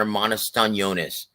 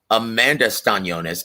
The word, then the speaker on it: Eimantas Stanionis: and our brother Sid UK says, who does Coach see winning between Vergil and Eimantas Stanionis? That's how I say his name, by the way. Eimantas Stanionis.